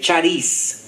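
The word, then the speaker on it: χάρις: esta idea de Gracia la forma que se pudiera pronunciar en español es eh charis Y la palabra que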